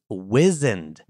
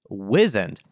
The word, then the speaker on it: wizened: W-I-Z/Z-E-N-E-D, wizened. This is a word I have been using incorrectly and pronouncing incorrectly my whole life, or at least since I'd heard of the word. I thought it was wizened, first of all.